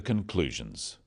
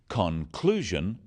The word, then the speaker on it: conclusion: in words and sentences in words one syllable is stressed the wrong stress makes it hard to understand so conclusion not conclusion products not products even more